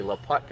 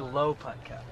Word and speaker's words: Laputka: Laputka. I mean, it's putting like golf, Yeah, right? like putt. Okay. Laputka. Some people call me Low Putka.